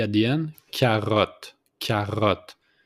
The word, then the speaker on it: carotte: Carotte. Carotte. Just put the accent on the R with the throat. Carotte.